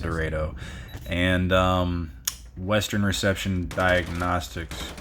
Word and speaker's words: Dorado: And yes, it is pronounced Dredo.